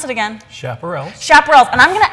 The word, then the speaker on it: Chaparrals: We have got some, and help me pronounce it again. Chaparrals.